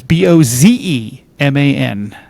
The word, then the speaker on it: Bozeman: And it's Bozeman. Like Montana.